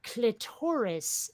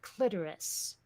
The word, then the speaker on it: clitoris: the wall is when people say clitoris instead of clitoris oh yeah okay I do not understand how you're getting clitoris from that from the way it's spelled it just doesn't make sense yeah yeah uh well that's the whole thing about putting the accent and the second salable and what's really